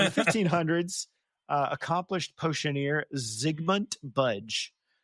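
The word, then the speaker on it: Zygmunt: Uh, in the 1500s, uh, accomplished potioneer Ziggmund Budge, it's spelled Z Y G M U N T. Ziggmund.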